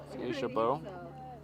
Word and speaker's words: Aisha Bowe: Do you know the correct pronunciation of Aisha Bow?